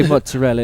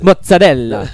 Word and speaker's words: mozzarella: It's like they don't say mozzarella, it's mozzarella. That is how it is pronounced.